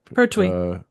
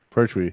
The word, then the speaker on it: Pertwee: Pertwee. Pertwee.